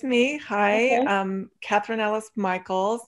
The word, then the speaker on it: Michaelis: Catherine Ellis Michaels. It's pronounced different than it looks. All right. Michael with an S, Michaels.